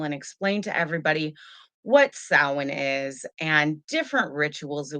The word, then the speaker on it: Samhain: figured you know it's samhain why not lots of people here in america they do call it samhain but to be honest it's actually pronounced samhain uh tonight we're gonna